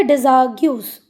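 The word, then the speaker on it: Desargues: डिजाग्यूस। अच्छा, कहीं कहीं इसका प्रोनाउंसिएशन डिजाग मिल रहा है, कहीं कहीं पे इसका प्रोनाउंसिएशन क्या मिलता है? डिजार्ग्यूस।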